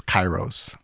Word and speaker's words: kairos: those lines uh so the actual Greek word is chyros and I feel like I have to do that disclaimer because uh I've had people say like that's that's not what the Greek word is you're mispronounce ounc ing it and it's